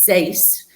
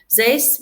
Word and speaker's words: XACE: I always think the pronunciation once oneoff is it's Zace, but that's an X. So people easily uh say say it differently, but Zace we've been functioning as Z uh UK for nearly 5 years.